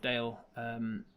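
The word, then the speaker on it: Dayl: So say, tell me the location of the Merry Gentleman if you know it, and the one who's called himself Dale. Which is spelt D-A-Y-L.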